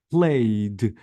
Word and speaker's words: played: Played, I deleted E and I maintain the D.